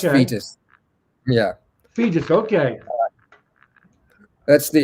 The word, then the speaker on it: Foetus: your first single right R FM it's it's pronounced fetus yeah fetus okay that's the it's the the